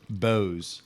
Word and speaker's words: Bose: Bose. All right. Like the speakers but with a Z.